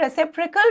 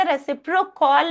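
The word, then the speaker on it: reciprocal: रेसिप्रकल pronounce. इसका pronunciation देख लीजिएगा। रेसिप्रोकल नहीं पढ़ेंगे इसको। रेसिप्रकल। क्या पढ़ेंगे? रेसिप्रकल। क्या प्रोनाउंस करना है? रेसिप्रकल।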